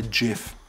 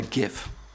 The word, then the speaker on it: GIF: pictures with your phone it's called a jiff not a gif a jiff 20 itself called all